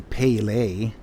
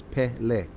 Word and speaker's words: Pele: And they had Pele, which, the guy was driving me nuts every time he say Pele. It's not pronounced Pele. It's not P-A-Y-L-A-Y. It's Pele, right?